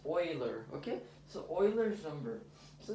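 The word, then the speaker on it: Euler: explore what this is also called pronounced boiler okay so Oilers number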